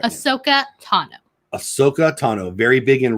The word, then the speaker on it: Ahsoka Tano: Ahsoka Tano.